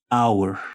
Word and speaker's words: hour: otro sustantivo House este Inicia con un sonido vocálico Our Aquí sí podemos notar que la H es muda entonces decimos the Hour the Hour La hora